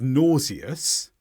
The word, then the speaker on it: nauseous: pronunciations first of all the British English version which is nauseous or the American version